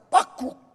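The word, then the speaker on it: בקבוק: 오지병이라고 하는 병은 밑에는 동그란데 병 모가지가 가늘어가지고 거기에 손잡이가 달려서 이 원어에는 뭐라고 발음하냐면 빡국, 빡국 이거예요. 여기 물을 따르면 빡국, 빡국, 빡국 하고 나온다고. 그래서 히브리어로 빡국 이래요.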